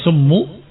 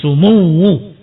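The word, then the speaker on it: سموّ: Yang ketujuh summu asyara haitu amar bikulli nafiin waara min kulliin sumwus syar afwan saya ralat bacanya bukan semu tetapi sumuwu tasdidnya di wau ya sumuwus syara yang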